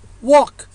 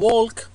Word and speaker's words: walk: walk يمشي ولا نقول walk أو walk it بالO الA نلفظها O والL لا تلفظ أبدا.